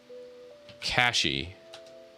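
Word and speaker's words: CachyOS: Cashy.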